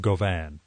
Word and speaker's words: Gauvin: It's out in paperback now from New Vessel Press in a translation by Edward Gauvin. Well, Gauvin. I'm going to give it a French pronunciation.